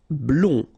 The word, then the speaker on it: blond: Blond, final D not pronounced.